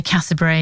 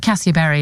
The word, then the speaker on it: Cassiobury: If you're from Watford, you just say Cassiobury. You drop half the syllables because it's a bit lazy. But Cassiobury is how you should pronounce it.